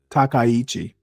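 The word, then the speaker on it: Takaichi: Takichi, that's that's how you pronounce it.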